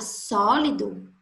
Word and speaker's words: sólido: Na palavra sólido, qual é a palavra mais forte? A sílaba mais forte. Só. Tanto porque dá para ver nitidamente, né, que recebeu o acento agudo.